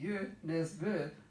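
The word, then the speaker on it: Nesbø: totally off base yeah it's like Jo Nesbo who's really you miss booth but if you don't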